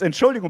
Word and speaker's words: Entschuldigung: How do you say it? It's Entschuldigung, but okay, it's fine. That's fine. You said it fast. You said it too fast.